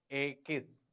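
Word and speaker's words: equis: i s AIS the pronunciation of X is a kiss the pronunciation of X is a kiss for example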